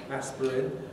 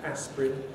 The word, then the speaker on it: aspirin: the jungle uh yes aspirin is one of those words where we have a sort of theoretical possibility of three syllables aspirin but we normally pronounce it as two syllables aspirin just like family can